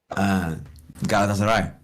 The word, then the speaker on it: Galatasaray: So I went, Galatasaray.